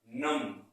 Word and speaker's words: numb: मैं इसको गलत तरीके से पढ़ूंगा तो हो जाएगा हमारा नम, बट यहां पर बी साइलेंट होता है तो इसको पढ़ेंगे नम।